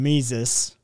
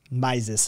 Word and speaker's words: Mises: shared by austrian guru ludwig von mises maises actually i believe is correct pronunciation on that sorry who asserts that